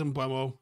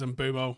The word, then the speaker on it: Mbeumo: He says Embuo. Everyone else says Embomo. I reckon he knows how to say his own name.